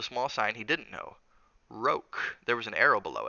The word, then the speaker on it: roque: "It's pronounced roque," Daddy was saying.